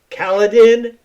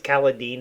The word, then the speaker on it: Kaladin: Kaladin. Oh, or Caladine. I think it's Caladine is the way they actually pronounce it.